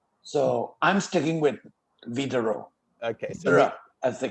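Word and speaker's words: Widerøe: so i'm sticking with vitaro okay as they call them but anyway we need a norwegian person to tell us how to pronounce but apparently the w is pronounced as a v b yeah so go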